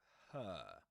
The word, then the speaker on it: her: And her is pronounced with a girl vowel sound, the nurse vowel sound. So we can color that too. Yeah, so her.